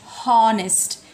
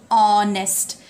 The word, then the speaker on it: honest: But let me tell you one thing, that this H is silent. We do not say honest, we say honest.